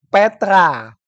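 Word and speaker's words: πέτρα: dengan Petrus yang kedua yang pertama itu maskulin bacanya petros Yang kedua feminim bacanya Petra kago Lego hotisu e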